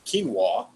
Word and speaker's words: quinoa: cut oats brown rice quinoa that's how you say it if you didn't know you know we know